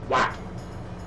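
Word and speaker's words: Wat: Yes, that's how that's pronounced. Whack. W-A-T, whack.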